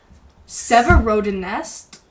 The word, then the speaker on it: Severodonetsk: I looked up the pronunciation, but Severodonetsk.